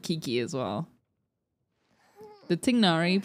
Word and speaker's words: Tignari: canonically in the game, his name is Tainari. And like, I understand that. But because I wish that they hadn't changed the pronunciation and I wish they had just kept it with the traditional pronunciation, Tignari.